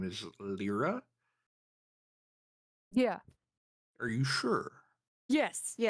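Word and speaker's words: Lliira: I think it's Lyra. Yeah. It's pronounced Lyra, actually. Lyra. I So do- does Okay. pronounced like the bird.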